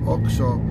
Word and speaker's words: OXXO: That XOXO right there, or I mean, it's called, how do you pronounce it? OXO. It's pronounced OXO.